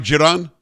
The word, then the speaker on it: Dzieran: unless it is about the money's Drago uh Jiran he he's written am I saying your name right giron yes you're saying it correctly perfect okay the